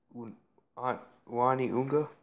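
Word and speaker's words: Uani 'Unga: Uani Unga.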